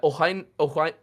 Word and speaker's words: Owain: talking about though I I do have to correct your pronunciation even though I'm going to pronounce it wrong this entire time too uh Ohio it's hard for me to not put the H in between the W there because I'm so used